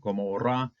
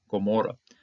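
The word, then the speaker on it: עמורה: So we see this ayin right here. Instead of just pronouncing the vowel that's on it, this hatepata, we pronounce it as a G, as a Gaian.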